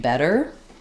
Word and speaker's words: better: Um the challenge for that is when you have a word like better where you have to do a flap and then an American R.